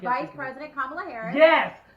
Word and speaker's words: Kamala Harris: Camilla Harris is what he calls her. He did. I was. I said it wrong. I think I said it wrong. No, he kept saying her name wrong.